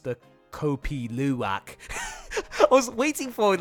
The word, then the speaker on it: Kopi Luwak: actually have tried copy Luwak so that's house pronounced that Kopi Luwak I was waiting for word like when I